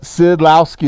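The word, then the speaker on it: Szydlowski: pastors is this way s z y d l o w s k i aren't you glad those aren't on your spelling test tomorrow okay but sidlowski is how you say his his makes more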